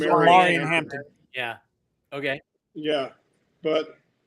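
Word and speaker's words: Omarion: probably take the next available off the board, O'Marion. Yeah. And I'm guessing that's how it's pronounced. Yeah, you're correct. It's O'Marion Hampton.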